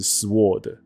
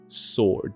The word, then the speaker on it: sword: 我以前以为它的发音是 sword， OK， sword，那不对，后面